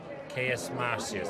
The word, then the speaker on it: Caius Marcius: Caius Marcius. Is that how you pronounce it?